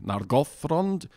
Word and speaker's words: Nargothrond: dr and thr, and so according to the pronunciation rules which we've been told, they should both be stressed on that second to last syllable, so Imladris and Nargothrond.